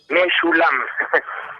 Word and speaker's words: Meschoulam: ¿Cómo se pronuncia tu apellido? Meshulam.